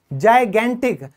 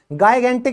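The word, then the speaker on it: gigantic: इसकी प्रोनाउंसिएशन कई बार कंफ्यूज कर देती है, ये बोला जाएगा जाइगेंटिक। गाइगेंटिक नहीं होता, ये होता है ज से जाइगेंटिक यानी विशाल काय।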